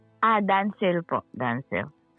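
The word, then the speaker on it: Danciel: Ah, Dancil po. Dancil. How do you spell that name? D A N C I E L. You You read that as Dancil?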